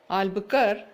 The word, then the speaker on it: Albuquerque: Albuquerque, the last Q-U-E is silent. You can say Alfonso de Albuquerque or just say Albuquerque. Both are accepted as far as the examination part is considered.